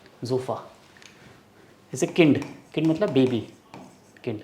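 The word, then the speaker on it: Kind: जैसे किंड, किंड मतलब baby, किंड। अब इंग्लिश में ये क्या वर्ड है, इंग्लिश में ये सेम स्पेलिंग होती है, इसका मतलब काइंड, बट जर्मन वर्ड है किंड, इसका मतलब बेबी, बच्चा, चाइल्ड।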